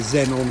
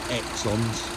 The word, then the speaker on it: xenon: it has got the xenon headlights. I actually heard somebody the other day call them Exons because that's how it's spelt, and it did make me laugh.